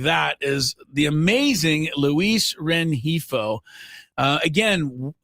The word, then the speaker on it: Rengifo: is the amazing Luis Renhifo. Uh, again, how much of the G are we supposed to pronounce? It's an H.